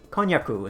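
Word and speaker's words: こんにゃく: i i don't know it's kanyaku is the way you say it in japanese um it's k-o-n-j-a-c i believe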